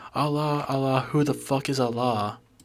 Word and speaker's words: Allah: they're saying it wrong I think they're saying Al it's Allah Allah who the [ __